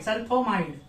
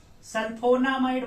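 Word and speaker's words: sulfonamide: N alkyl और aryl benzene sulpho अमाइड सल्फोमाइड इसका spelling है सल्फोनामाइड सल्फोनामाइड बोला जाता है इसको यहां पे और क्लियर करके लिखेंगे सल्फोनामाइड एन होता है सल्फोनामाइड ठीक है अब अब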